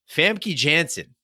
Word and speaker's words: Famke Janssen: would you would correct me on that but Famke Jansen don't write in we now know yeah I